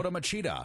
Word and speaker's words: Lyoto Machida: Lyoto Machida.